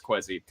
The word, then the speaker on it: Kwesi: We're pretty sure it's Kwesi.